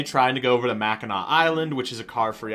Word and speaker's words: Mackinac: a view of the Mackinac Bridge, the legendary bridge that connects the upper and lower peninsulas of Michigan. So Mackinac is spelled with a C at the end, even though it's not pronounced.